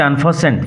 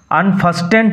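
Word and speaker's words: unfasten: clothing তার থেকে আসছে আনফাসেন্ট ফাসেন্ট খুলে দিল আনফাসেন্ট খুলে দিল আলগা করে দিল টি উইল রিমেন সাইলেন্ট টি এর উচ্চারণ হবে না উচ্চারণ লক্ষ্য করো আনফাস্টেন্ট হবে না আনফাসেন্জার হারমিট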